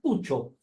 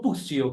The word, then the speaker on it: Puccio: Justamente estábamos hablando de su apellido italiano, que se pronuncia Puccio, no Puccio, como le dicen normalmente.